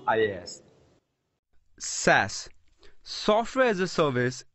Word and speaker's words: IaaS: There are three main cloud segments: software as a service, pronounced SaaS, platform as a service, pronounced PaaS, and infrastructure as a service, pronounced IaaS.